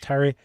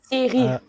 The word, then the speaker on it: Thierry: And give me the correct pronunciation of this, because I always say it's Terry. Thierry. So Terry. T, like T, Yes. A, Riz. Like rice. Thierry. But in French.